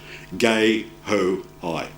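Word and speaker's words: guehoi: byblos gay who I it's named after a friend of mine I'll know Russell dejo I who's French mauritian so it's a French name and the pronunciation is gay oh I here's the typical happen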